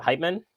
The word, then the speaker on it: Heitman: Is it Heitman? Heitman? I said it right the first time.